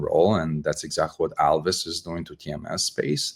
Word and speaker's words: Alvys: I always say well I want to sound like Elvis uh many times I just love uh what Elvis did to uh rock and roll and that's exactly what Alvis is doing to TMS